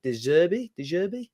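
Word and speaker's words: De Zerbi: uh Roberto is it deserby yeah I think deserve is the way he pronounced it what's so close to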